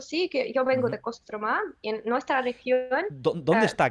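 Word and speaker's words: Кострома: quieren la que no tiene el acento se pronuncia como aunque si yo digo a mi ciudad se llama kostromá pero en ruso le llamamos trama castro y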